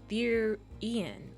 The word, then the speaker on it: therian: Therian is pronounced Therian, like fear.